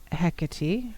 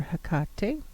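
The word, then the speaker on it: Hecate: always been interested in hecka tea or her cocktail and actually he can pronounce it either way and she was the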